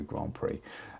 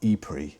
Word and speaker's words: E-Prix: calendar and of course, Mexico Grand Prix uh E-Prix, sorry. Got to say it right.